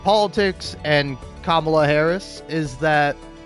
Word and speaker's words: Kamala: about like politics and Kamala Harris is that, like, when she's talking about Kamala, she says Kamala, and like D'Angelo is like, it's Kamala, it's Kamala, and like I think